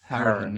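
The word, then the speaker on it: Hourihane: Howrahan, yeah. But that's actually often got wrong in Ireland. That's his Cork. That's a Cork pronunciation, but he's from Cork.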